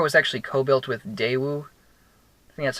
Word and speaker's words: Daewoo: cars this car was actually co built with Daewoo that's how you pronounced that so it's not like a pure